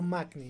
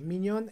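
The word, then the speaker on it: Maignan: Mignon, Mignon o Magni. Mignon es en francés y Magni es en español. Ahí la verdadera pronunciación de Magni es Mignon en francés.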